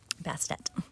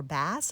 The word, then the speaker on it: Bast: And so I wanted to start with a little section about Bast or Bastet. Bastet. Bast, some people say Bas or Bass, some people say. I'm going with Bast, rhymes with last, and we'll see how we do.